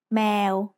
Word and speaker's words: แมว: give us the word แมว If you think แมว sounds like the noise a cat makes, that's because แมว means cat in Thai. Let's write cat. สระแอ มอม้า วอแหวน แมว Now it's time for Pratana's points.